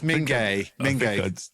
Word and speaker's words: Minge: It's not Minge. If your surname was spelled M-I-N-G-E, would you tell people that it's Minge, or would you call it something like Minge? No, it's Mingay.